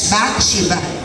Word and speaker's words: Bathsheba: The word Bathsheba, first nga syllable sa Bathsheba, Bath, good siya. Bath, B-A-T-H, Bathsheba.